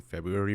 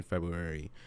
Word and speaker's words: February: saying February wrong because there's like an r in February and it's like February but I feel like that first R is silent but I also have a tendency to mispronounce words as seen in previous episodes um but February just feels like it makes sense I don't think anybody's really going out their way to pronounce that extra R but it is what